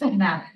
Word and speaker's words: Knapp: Is it Nap with a K? That's March. Nap, okay, yeah. See, it's Nap.